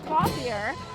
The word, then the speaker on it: Clothier: Directed by Chris Clothier, pronounced Clothier, and drums majors Nick Katasek, Jason Myers performing Gray's arrangement of the Nutcracker.